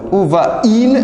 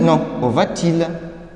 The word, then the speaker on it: où va-t-il: C'est déjà expliqué, on va mettre T au milieu. Ce sera où va-t-il? Où va-t-il? ليه؟ عشان هنا عندي deux voyelles. حرفين voyelles A, I جنب بعض. فبفصلهم بالتي على أساس تسهيل للنطق. تسهيلا للنطق. فبقول où va-il? Non, où va-t-il?